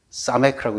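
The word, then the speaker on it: ס: 가운데 글자는 사메크라고 읽습니다.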